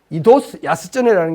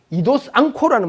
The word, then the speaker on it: 糸洲安恒: 이제 갖다 붙인 건데 이도스 야스쩌네라는 게 정확한 일본식 발음인데 영어책을 보면 이도스 앙코라는 말이 많이 나와요. 앙코라는 말이 안항을 그 음독으로 하면 앙코가 되고 저 한자음 그대로 일본식으로 읽으면 앙코가 되고 그 다음에는 훈독 뜻을 가지고 새기면 야스쩌네가 되는데 일본 사람들이 야스쩌네라고 부르는 게 맞을 거예요.